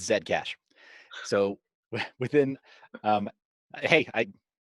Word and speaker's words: Zcash: and we see here this is zcash um or i apologize i say it wrong it's zed cash so within um hey